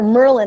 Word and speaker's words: Merlijn: Is it Merlijn or Merlin? I want to call you Merlin. You can call me Merlin. People call me Merlin, Merlijn, Merlijn. Merlijn is a Dutch official pronunciation, but I usually go by Merlin.